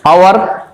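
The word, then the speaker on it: hour: দিতেই হবে কিন্তু উচ্চারণের সময় তোমাকে কিন্তু জি উচ্চারণ করা চলবে না। এরপর দেখো এইচ এটা আমরা প্রচুর ইউজ করি আওয়ার আমরা কি বলি হাওয়ার বলি না তো অর্থাৎ ছোট ছোট শিশুদের এভাবে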